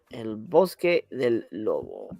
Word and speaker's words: El Bosque del Lobo: title sometimes it is under the Spanish title El Bosque del Lobo let's say that's exactly how I pronounced it you nailed it absolutely oh it